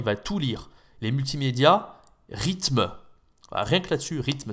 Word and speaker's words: rythme: Les multimédias, rythme. Voilà, rien que là-dessus, rythme, c'est pas facile la prononciation. Il va dire autre chose. Il va pas dire rythme, rhythm, ou il va le dire à l'anglaise.